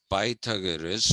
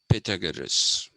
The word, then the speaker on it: Pythagoras: in line is pythagoras whom everybody knows as pythagoras but i've been told that the correct pronunciation is pythagoras and we'll be talking about these people too